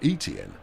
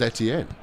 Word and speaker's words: Etienne: insist on pronouncing it Etienne. And you kind of go, well, that's not right. It's a French surname. And as the French will undoubtedly tell you, it is pronounced Etienne.